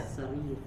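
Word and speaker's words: السرير: As-sarir. As-sarir ya. Karena di situ ada tandanya, itu ada tasdidnya. As-sarir, as-salajah, seperti itu.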